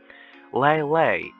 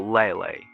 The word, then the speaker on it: Leyley: does one pronounce lelay lelay lay as in lay down so lelay so something like that